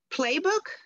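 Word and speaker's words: Plebuch: of alice collins uh is it playbook yeah you pronounced it exactly right yeah great so alice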